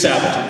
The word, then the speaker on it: Sabat: Because it is Sabat, is how you say it.